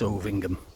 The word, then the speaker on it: Ovingham: It's Ovingham, alright? They just like to pronounce things really weird over here.